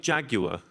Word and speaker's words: Jaguar: So Jaguar or Jaguar? What do you think? I think Jaguar is how it's pronounced.